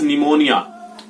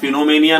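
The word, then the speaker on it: pneumonia: या फिर अगर मैं और बात करूं तो हो सकता है इट्स निमोनिया, इट्स निमोनिया। हाँ, फिनोमेनिया नहीं होगा, इट्स निमोनिया means it इज निमोनिया।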